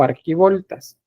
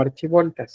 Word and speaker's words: arquivolta: archiv voltas o arquivoltas Depende si lo encontramos con ch o con q acá Aquí dice arquivolta Pero puede que lo encuentren como archivolta el término desigual o más bien la pronunciación iguales arquivoltas eh A todo eso